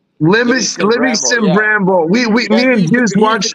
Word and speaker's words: Livingston Bramble: Livingston Bramble. Livingston Bramble.